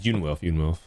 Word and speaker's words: Young Wilf: Was it pronounced Young Wolf? Yeah, it's Yoon Wilf.